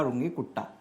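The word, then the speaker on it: Runge–Kutta: कहता है रुंगे कुट्टा कई लोग इसको कुत्ता भी बोल दे ते हैं खासकर जो हिंदी मीडियम वाले हैं या फिर जो हंसी मजाक करने वाले बच्चे हैं क्लास में वो अक्सर इसको कुत्ता प्रोनाउंस कर देते हैं जबकि ऐसा नहीं करना चाहिए हंसी मजाक के लिए कभी-कभी चल जाता है लेकिन यह बेसिकली एक रिन मैथमेटिक्स थे जिनका नाम था रुंगे कुट्टा ठीक है ना मतलब फॉरेन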